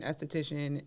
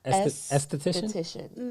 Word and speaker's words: esthetician: mom is going to school to be an esthetician, and I'm training under. like can you like what's the proper way to say that word? Because I feel like I stumble over that word. Esthetician.